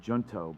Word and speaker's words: Junto: of the podcast for what I'm told is pronounced the Junto blog, a blog of young early Americanists.